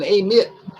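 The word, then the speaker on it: Amite: up there call it the way those people pronounce it as a lit they say yeah i live in amit but um that's one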